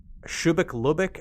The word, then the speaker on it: Shubeik Lubeik: So again, that one is called Shubeik Lubeik, I think is how you pronounce it.